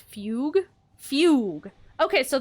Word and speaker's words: fugue: thought it was pronounced Fugue fug okay so the second U is silent see I wasn't sure so it's Fugue I guess I kind